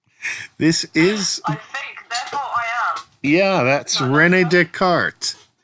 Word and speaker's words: Descartes: is yeah that's Rene Descartes who was desc Cortez in the first episode of the reading but French is interesting because they don't pronounce all their letters this is the new